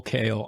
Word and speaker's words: Kael: So Pauline Kael, I think that's how you pronounce her last name. Yes, it is.